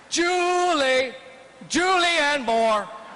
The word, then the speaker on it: Julianne Moore: than julianne moore incidentally it is pronounced julie julian moore i think that julianne